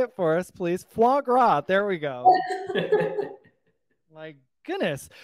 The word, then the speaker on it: foie gras: here go ahead say it for us please foie gras there we go my goodness fish sticks and